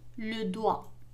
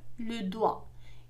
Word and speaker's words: doigt: إذا GT en fin de mot عندما تكون GT في آخر الكلمة فإنها لا تنطق. مثال le doigt الأصبع le doigt. إذا لا ننطق GT وكأنها غير موجودة le doigt.